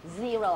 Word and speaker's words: zero: ีร ชด เจน เลย ตัว Z เนี่ย จะ อ่าน ออก เสียง อืด ออก มา จาก ลำ คอ ด้วย zer zer zer เรา อ่าน ไม่ เก่ง เรา พยายาม อ่าน ให้ ชัด ก่อน นะ คะ Zero zer พอ อ่าน เก่ง